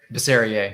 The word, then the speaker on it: Bisserier: Is it Bisserier? Bisserier. Yeah, that's right. Bisserier. All right. Yeah, like Perrier.